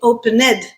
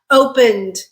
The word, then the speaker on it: opened: another syllable okay open is two syllables when we add the Ed we're not creating a third syllable we're not saying opened right opened it's still a two- syllable word we just created a consonant cluster at the end with the n and D sounds together n n and we